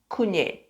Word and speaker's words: kunyit: And there is no corresponding sound in the English language for it.